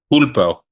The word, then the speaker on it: pulpo: Was it punto? Is that how you say it? Pulpo.